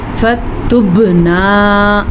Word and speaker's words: فَتُبْنَا: فَتُبْنَا، قلقلہ با کے اوپر ساکن آ گیا تو با پہ قلقلہ ہوگا.